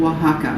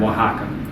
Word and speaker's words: Oaxaca: you know i just i just froze a oaxaca old-fashioned saying again oaxaca oaxaca oaxaca what does it mean it's an area in